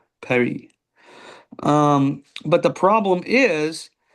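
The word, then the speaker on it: Pierry: Perry. Perry. P I E R R Y. Perry.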